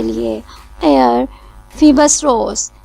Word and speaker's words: Phoebus: यूज़ होता है, और इसकी प्रोनाउंसिएशन हम फीबस ही करेंगे, जैसे कि हम फिनिक्स को कहते हैं, फिनिक्स की प्रोनाउंसिएशन करते हैं।